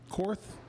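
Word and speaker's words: Koerth: believe is how you pronounce it, Cor, would you say? Cor. K O E R T H. Cor.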